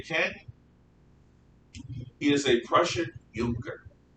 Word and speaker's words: Junker: he is a prussian younger it's spelled junker but and when i